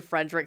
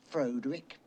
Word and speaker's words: Frederick: actually pronounced Igor, but only in response to Frederick saying his last name is pronounced Frankenstein. Frankenstein. You're putting me on. No, it's pronounced Frankenstein. Do you also say Froderick?